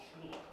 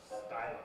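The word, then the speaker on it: Schuyler: Some people call him Shula. Schuler. It's a bit. Wait. Schuler? Shula. Schuler. Okay. Because they couldn't figure out how to pronounce it. Oh, and the real pronunciation is Skylar.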